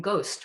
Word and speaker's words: ghost: He tattoos a silent H, a little bit like that silent H in Ghost, which has an interesting history, if you don't know it, having to do with printing, 15th century printing.